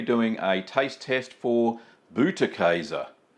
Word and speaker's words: Butterkäse: So remember, it's pronounced Butterkäse. That's Butterkäse. Well, as you can see, a very simple cheese to make.